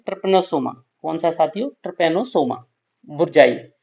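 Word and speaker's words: tsetse: गलत ना कर देना स्पेलिंग से पता नहीं चलता इसमें टी होता है और ये साइलेंट होता है ठीक है सीसी मक्खी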